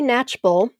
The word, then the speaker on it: Knatchbull: Okay, next one for Kelly Natchbull. And her last name, for those of you that will win, it's spelled Knatchbull, Kelly with an I.